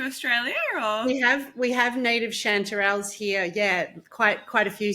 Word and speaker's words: Chanterelle: Actually, before we start, how do I pronounce your name? Chanterelle. Chanterelle.